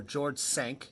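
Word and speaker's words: George Cinq: at this Four Seasons George the 5th or George sank in French it's supposed to be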